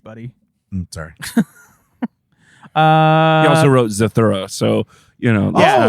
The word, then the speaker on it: Zathura: It's Zathura, by the way.